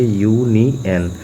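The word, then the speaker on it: union: जैसे एक और एग्जांपल देख लीजिए, जैसे कि एग्जांपल है यूनियन, ये शुरू हो रहा है बेसिकली वावेल से, लेकिन इसको प्रोनाउंसिएशन करेंगे तो क्या लिखेंगे, यूनियन। तो यू क्या है, हमारा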